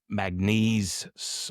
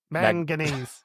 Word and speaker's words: manganese: in New South Wales and Liberty Bell uh maganese I pronounced correctly smelter in Tasmania have maganese have been mang manganese man m man m man m man